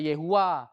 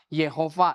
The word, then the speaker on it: Yahweh: Ini pembacaannya nggak ada yang absolut, nggak ada yang mutlak. Jadi nggak bisa dimutlakkan. Ya, bisa Yahweh, bisa Yehua, Yehova, itu banyak pelafalannya.